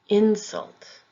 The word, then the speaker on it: insult: Insult, insult. Export, export. If the word is being used as a verb, the emphasis will be on the second syllable.